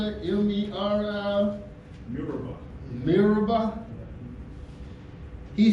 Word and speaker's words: Meribah: You can pronounce that, M-E-R-I? Meribah.